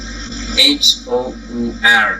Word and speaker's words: hour: Contohnya di situ kalau kita spell H-O-U-R ya, O-U-R, bunyinya hour. Nah, itu sama, bunyinya sama, tapi ketika di spelling dan maknanya juga berbeda.